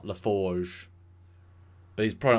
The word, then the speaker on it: LaForge: Like, he pronounces his name wrong. I guess he could be a French Romulan, but it's LaForge, not LaForge.